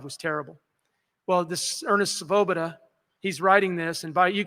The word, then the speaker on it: Svoboda: There was a Depression-era diarist named Ernest Svoboda. That's hard to pronounce even when I don't have a mask on. S-V-O-B-O-D-A, Svoboda.